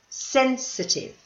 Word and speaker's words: sensitive: is to be sensitive now don't forget the pronunciation this one the pronunciation is at the beginning listen sensitive here is the next one